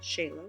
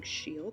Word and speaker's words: Scheele: Now, in 1775, chemist Carl Scheele, which you have been incorrectly pronouncing Scheele this entire time, like a stupid human,